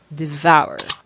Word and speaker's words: devour: it's in swah so you have it devour devour you use it to express when you would